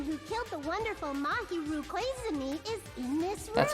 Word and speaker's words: Koizumi: To think that the person who killed the wonderful Mahiru Koizumi is in this room.